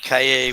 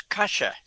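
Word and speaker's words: calle: You said cay whatever. C A L L E. Not in not in Argentina. That's Kasha.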